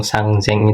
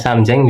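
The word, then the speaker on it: 三千: Terus jangan juga dikritik ada yang ngomong sang zeng itu salah itu ya. Orang Jepang itu kalau ngomong seenaknya sendiri juga. Itu kalau dalam bahasa Kaiwa itu ya. Jadi bisa Samzeng bisa Sangzeng.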